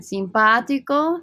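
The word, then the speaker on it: simpático: antipathico mean so again simpatico notice the stress on the ah here right i gotta pronounce that strongly simpatico simpatica nice versus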